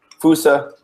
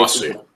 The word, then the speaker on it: Fosu: We got Fusa, Mensah. And I say Fosu. What? Fosu. Why is that? Is it really? Yes, Fosu Mensah, not Fusa.